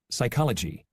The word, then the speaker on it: psychology: Psychology. Raspberry. Okay, so we can see that is silent in the word receipt, psychology, raspberry. However, it is not silent in the word kept.